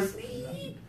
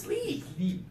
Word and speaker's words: sleep: High tongue for sleep. Low tongue for slip. Carlos, give it a try. Give me the easy one first. Sleep.